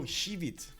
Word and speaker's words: Schwyz: Oh, Schwyz. Okay. Is it with a sh, right? Sh at the beginning? Schwyz? Oh, right. You pronounce X as sh.